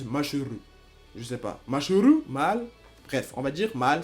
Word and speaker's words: Mashle: Je sais qu'il y a un SH, mais ça se prononce comme ça. En japonais, ça se prononce Mashuru. Et en français, ça se prononce Mal.